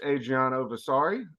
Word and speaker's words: Adriano Versari: have our new coach Adriana vasari pronounced like Versace but for sorry is